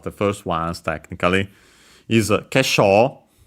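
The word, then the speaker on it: 化粧: first ones technically, is kesho, a Chinese compound accent on the sho, so actually neither an accented or accent on the first syllable, so be careful.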